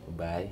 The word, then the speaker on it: Baay: Baay, did I pronounce that right? Baay, yeah.